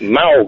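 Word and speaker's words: Mowgli: with the mowgly factor but mogle is it not Malley I don't know how it's pronounced okay it's Malley it's just a story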